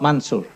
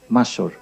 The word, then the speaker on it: Mansour: Mansour, not Mansur, Mansour, okay.